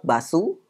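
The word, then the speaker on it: バス: Berikutnya bus, ya, tetap basu. Bus itu basu dalam bahasa Jepang, itu pelafalan melalui bahasa Inggris, ya.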